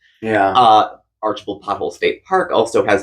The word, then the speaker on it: Archbald: c HB l d is pronounced archal to the locals and I'm that local I call it archal yeah uh archal pole State Park also